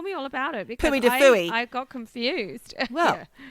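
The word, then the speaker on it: Puy du Fou: It's called Puy de Fou.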